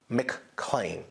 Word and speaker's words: McLean: Locals pronounce the word McLean.